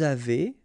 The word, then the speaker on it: avez: two, nous avons, vous avez, a Z at the end will produce this E sound, avez, little link between the